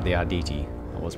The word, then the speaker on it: Arditi: At least I pronounced it right, the Arditi. I was pronouncing that right.